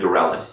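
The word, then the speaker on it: ghrelin: hormonal changes two big hormones are leptin and gorillin so gorillin which is spelled g-h-r-e-l-i-n and I think of it as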